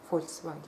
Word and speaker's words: Volkswagen: И я это знала еще в дошкольном возрасте, потому что я не понимала, почему люди говорят Volkswagen, если оно пишется через «V». Почему они говорят «F» — Volkswagen?